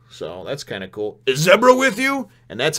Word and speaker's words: Zebra: and we've heard about zebras which is the fourth one and keep wanting to say Z bricks that's how it's spelled but everybody tells me at zebra but anyway zebra zebra